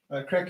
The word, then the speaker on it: craic: It's going to be called Weekend Crack, and Weekend Crack is crack is spelled CRAIC. It's a Gaelic word or an Irish word for news, so it'll be called the Weekend Crack.